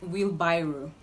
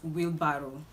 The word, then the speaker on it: wheelbarrow: the right to pronounce this word is wheelbarrow wheelbarrow there is no rye not by rule but barrow okay so try as much as possible not to say will viral it will barrow